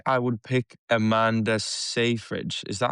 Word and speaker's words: Seyfried: I feel like I would pick Amanda Seyfried. Is that how you pronounce her last name? Seyfried, yeah.